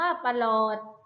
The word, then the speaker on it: ปรอท: ตลก อ่าน ว่า ตลก ปรอท อ่าน ว่า ปะ หลอด บัลลาด อ่าน ว่า ปลัด